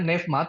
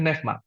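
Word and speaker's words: πνεῦμα: ini Bapak Ibu Saudara neevma bahasa yunaninya neevma tulisannya neoma ya bacanya neevma What is neevma in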